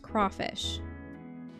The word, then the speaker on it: crayfish: I've always ever heard crayfish be pronounced crawfish. Hmm. At least in all the songs I had to sing. It's probably the valid pronunciation.